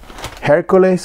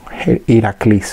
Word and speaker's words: Heracles: And the last one is Hercules, or I should say how Heracles, how it's pronounced in Greek.